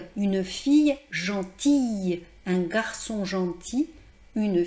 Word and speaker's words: fil: Néanmoins, par exemple, lorsque l'on parle de coudre, vous savez, on utilise un fil. Alors là, il y a un L, et on entend le L.